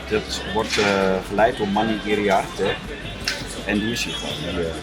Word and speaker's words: Iriarte: En dat wordt geleid door Manny Iriarte. En die is hier gewoon. You pronounce very good my last name.